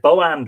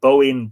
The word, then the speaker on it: Bóinn: called bowand three so we have bo and one boaand been the one of the sort of ancient uh pronunciations of her name boeing boan boand um being variants as with all of the characters of irish mythology and indeed all the